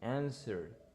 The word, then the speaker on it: answer: and the other one answer answer no no answers it is answer eliminate the w eliminate the w you only say answer should eliminate the l